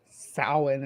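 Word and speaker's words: Samhain: pronounce it yeah but it's a idyllic word so sowing is how you actually yeah excellent yeah yeah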